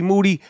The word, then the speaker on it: Moody: The name is G Moody. Yes, it rhymes with duty.